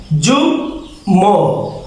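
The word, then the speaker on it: যুগ্ম: এটার উচ্চারণ হবে গুল ম যুগ ম।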